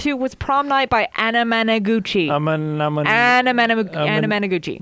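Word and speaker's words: Anamanaguchi: you just listened to was Prom Night by Anna Managuchi. Anna Managuchi. Anemone. No, not even close. It's not that hard to pronounce, Caleb. It's phonetics. Simple phonetics. Say with me. Anna Managuchi. Anna Managuchi.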